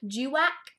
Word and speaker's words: guac: Gwack. I don't know why I pronounced it guac. I'm pretty sure it's Gwac.